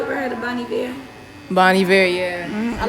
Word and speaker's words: Bon Iver: Bon Iver, yeah. I like how you pronounce his name right too.